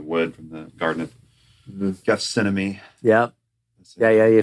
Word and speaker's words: Gethsemane: In this, this cross, when you went to the Holy Land, made from the wood from the Garden of Gethsemane.